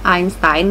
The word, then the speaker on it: Einstein: Kalau Albert Einstein ya, pelafalan Jermannya ya kan, Einstein.